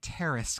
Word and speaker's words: Terrace: Princeton Tower Club, and Terrace Club. Like the terrace, not the terrorist. Terrace. Okay, two syllables.